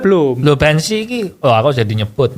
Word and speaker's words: Banshee: Bacanya apa, Bu? Banshee.